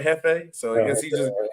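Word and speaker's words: jefe: I think I said it right, Hefe.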